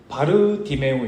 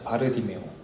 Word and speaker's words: 바디매오: 있습니다 디메오 y 아들 원어적인 발음으로 좀 더 가깝게 발음하면 바르 디메오 있니다 바르 디메오 바르는 누구누구의 아들 디메오